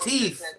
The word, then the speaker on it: teeth: Brother is pronounced teeth. There's no F. There's no F in the word teeth. Just like when you have your death, there will be no such thing as a daff.